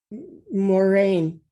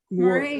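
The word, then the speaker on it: Muireann: Moraine. Moraine. Like Yeah, I know in America, MUIR is pronounced like French pronunciation, but it's Irish, so it's more like MOOR, Moor, and rain.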